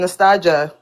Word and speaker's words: Nastasia: Um you actually said it right the first time, Nastasia.